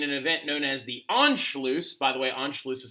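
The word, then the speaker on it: Anschluss: alone but in an event known as the enlo by the way Ono is spelled a NS c h l u SS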